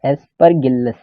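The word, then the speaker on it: Aspergillus: दूसरा है दूसरा है एस्परगिल्लस, ठीक है, नाम ही इतना ऐसा है एस्परगिल्लस, इसका प्रोनाउंसिएशन इसी तरह का है एस्परगिल्लस।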